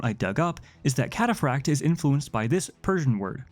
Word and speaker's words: Cataphractii: but from my understanding, the technically correct way of pronouncing this word is catapracti or at least something close to it. That said, I've been pronouncing it catapracti because I think it sounds cooler and because it matches with pronunciation of more common words like cacti, even if there are